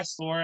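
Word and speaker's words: És: es es uh skateboards i think they pronounce it s but i've always called it is skateboards but it's a specific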